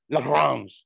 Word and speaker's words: Lagrange: all right uh lagrange era bound lagrange airborne or as he probably announced uh pronounced his name lagrange lagrange joseph luis it's french yeah yeah it's kind of like the greens yeah that one it's